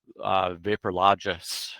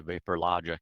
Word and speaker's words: VaporLogic: For example, if they just keep saying DriSteem or Vaporlogis with a S sound, and that's what we were getting, we can just teach the algorithm how to pronounce DriSteam and how to say VaporLogic instead of VaporLogis, and it learns, and